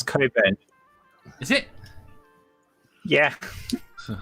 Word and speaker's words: Cockburn: uh no i haven't been to cockburn let's pronounce koben is it yeah it's not special it's not